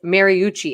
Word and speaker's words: Mariucci: really appreciate you helping me learn how to pronounce people's names it's mariucci and i was gonna i was getting really